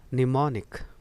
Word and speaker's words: mnemonic: MEMONIC, इसके बगल में दाहिनी तरफ आप कुछ लिखा देख रहे होंगे, दिस इज़ फोनेटिक्स, फोनेटिक्स, और लिखा हुआ है फोनेटिक्स में निमोनिक, निमोनिक।